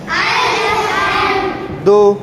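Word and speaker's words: الحمد: হাম হাম আলহাম আলহাম হা টা গলার ভিতর থেকে হবে আলহাম আলহাম আলহাম আলহাম দু দু দু দু আলহামদু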